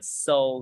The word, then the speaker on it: Seoul: Mình Giết là s ioul và tiếng Anh đọc là so Nha và bạn đã xuất sắc làm đúng